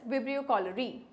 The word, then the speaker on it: Vibrio cholerae: Common among them is Vibrio cholera, and which causes cholera, or you can say the name could be pronounced as Vibrio cholerae.